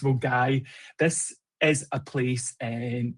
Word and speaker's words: Milngavie: Uh Deborah's so Mulgai store, it looks like Milngavie, but it's um pronounced Mulgai.